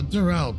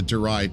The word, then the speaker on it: Durai: They both appear in my ancestors' account for the rise of Ivalice, the Dural Papers. Or sorry, the Durai Papers. I keep on pronouncing as Dural.